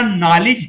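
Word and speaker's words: knowledge: इस पढ़ा जाए शिप्रा नॉलेज है नॉलेज भी हम स्पेलिंग कैसे शुरू करते हैं लेकिन के कुछ पढ़ा नहीं जाता पड़ा नॉलेज नूर एंड से पढ़ा जाता है तो यह के इस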